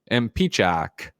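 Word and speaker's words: Impicciche: Tayrell713 says, BuzzFeed multiplayer's Kelsey Impichi is pronounced Mpichak. Mpichak, maybe.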